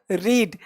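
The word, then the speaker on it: read: बोलेंगे भाई, इफ यू रीड। अब ध्यान दीजिएगा, रीड का स्पेलिंग सेम होगा, पढ़ना लेकिन रेड। इफ यू रेड या फिर स्टडीड भी कर सकते हो।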